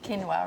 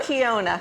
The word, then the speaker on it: quinoa: how do you cook quinoa, right? And how do you say it? I said quinoa. What do you say? Quinoa. Okay, good. Yeah. So this is Not Kiona. No, yeah, exactly.